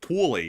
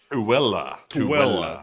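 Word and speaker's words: Tooele: It's like Twilly or something, you know? It's a Tuella. Tuella. Yeah, Tuella. Who the hell would get that? I look at it and say Thule.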